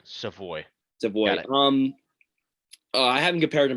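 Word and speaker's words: Savoie: him i have some voice um it's it's pronounced way i was rare i was corrected that multiple times except what it's it's savoy okay yeah yeah he's not um he's not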